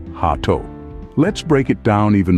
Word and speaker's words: gato: combine the two syllables remember the G is soft like an H so it's hat say it with me gate remember to keep your G soft let's try it again